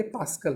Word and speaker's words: pascal: तो इसको बोलते हैं PA, मतलब होता है, प्रोनाउंस करने के लिए आप इसको बोलेंगे पास्कल।